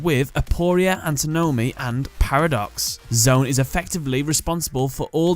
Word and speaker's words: Z-one: So, his English name is Z-1, but it's pronounced as Zone.